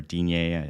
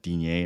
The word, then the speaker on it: Digne: And on Monday, I got absolutely hammered by Lucas Dean or Digne. I don't even know anymore. So no, it's Dean.